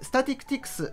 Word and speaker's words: statistics: これスタティクティクスと発音するんです